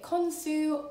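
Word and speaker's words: Khonsu: know what i mean consue or you can also pronounce it konsu was the god of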